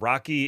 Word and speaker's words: RoCE: lot and it's also there's no acceptable case for pronouncing r oce as Rocky and yet that is what the industry landed on say the letters people it's not complicated rosi SQL oh geez